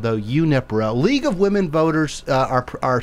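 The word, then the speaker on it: Junípero: This evening at the Pacific Grove Community Room, 515, I say Junipero. Carmelita said Unipero, but she would probably know better than I. I always thought that J was a who, but maybe I'm saying it wrong.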